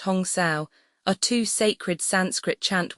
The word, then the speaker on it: Hamsa: Hamsa, pronounced Hong Sao, are two sacred Sanskrit chant words possessing a vibratory connection with the incoming and outgoing breath.